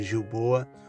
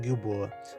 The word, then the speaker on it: Gilboa: Hoje eu vou falar um pouquinho sobre o Monte Gilboa, ou Monte Gilboa, né? Ambas as traduções, as pronúncias estão corretas.